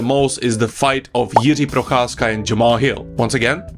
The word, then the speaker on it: Procházka: is the fight of Yi prasa and Jamal Hill once again this is how you pronounce his name Yi Brasa and the reason why